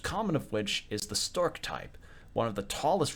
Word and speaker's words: Storch: Oh, it's Stork. That's how it's pronounced.